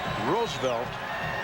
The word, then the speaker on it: Roosevelt: Pepper Martin's given name, John Leonard Roosevelt Martin. Or if you prefer the correct pronunciation, Roosevelt.